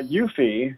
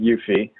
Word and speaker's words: Eufy: talking about so uh yuffie again challenging my pronunciation skills i'm pretty sure it's e-u-f-y but i'm pretty sure it's pronounced yuffie uh is a security